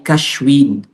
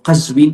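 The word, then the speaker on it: Qazvin: ay sa Iran sa sa persia ay cashwin pero ang mga arabo ay binibigkas nila itong kazwin at ito na yung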